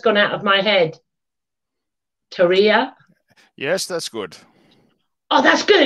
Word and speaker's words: Terje: I've been trying to pronounce his name correctly, and it's just gone out of my head. Terje.